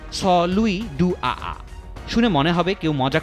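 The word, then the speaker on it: Saint-Louis-du-Ha! Ha!: ফরাসি প্রভাবিত এক মজার শহরের নাম সেইন্ট লুইস ডুহাহা। ফ্রেঞ্চ ভাষায় যার উচ্চারণ স লুই ডু আ।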